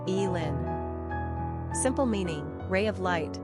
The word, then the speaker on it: Elin: two ranking popularity 815 pronunciation E Lynn simple meaning ray of